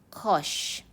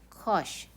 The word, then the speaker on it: cosh: the hyperbolic cosine so we usually pronounce it as kosh kosh x it is defined